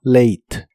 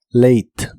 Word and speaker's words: late: hablas de llegar tarde la a de esta palabra se pronuncia como e y la e del final no se pronuncia solo late late y es hora de